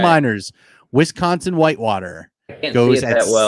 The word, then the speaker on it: Meinerz: Should I pencil Miners in for you? You don't need to pencil Miners in. You can pen Miners in. All Quinn right. Miners, Wisconsin Whitewater.